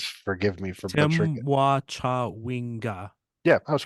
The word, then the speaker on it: Temwa Chawinga: Temwa Chawinga. Yeah, I was correct. Okay, good. That's going by pronunciation guide that's in the email that I